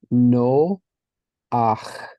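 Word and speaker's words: נֹחַ: well but we um anytime that we're having the sound at the end of a word if it carries the vowel after it the vowel is actually pronounced before it so it's confusing but we'll get there so this would be pronounced no ah so my prophet song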